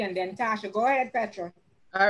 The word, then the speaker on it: Petra: Go ahead, Petra. All right. Well, Charmaine, it's actually pronounced Petra.